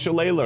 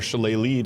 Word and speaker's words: shillelagh: Uh this is also a nice staff because you can use shillelagh or shilleleigh, depending on your pronunciation, which is a spell I give on this.